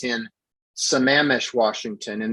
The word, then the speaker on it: Sammamish: understanding is it's in some amish washington and the only reason i know how to pronounce that word is because we stayed on the banks of lake sammamish in our rv on the